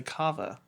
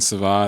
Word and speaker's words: Cava: and I was like don't you mean SAA and they're like no it's pronounced Cava you argued you got